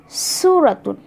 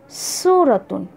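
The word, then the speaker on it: صورة: और सेम उसी पैटर्न पे स्वाद के साथ, स्वाद वाव रा और गोलता, सूरतुन, सूरतुन, सूरतुन। फ़र्क रखिए दोनों में।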